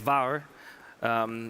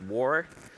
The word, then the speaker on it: WARR: And actually, it's WARR, even though the English-speaking world would probably pronounce it WARR.